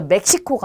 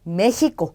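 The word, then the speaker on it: México: 자, 그러면 이 나라 이름을 읽을 때 우리 멕시코라는 나라인데요. 스페인어로 읽을 때는 메히코라고 하는 게 맞아요. 그래서 멕시코가 아니고 메히코. 그래서 흐 발음이 나요.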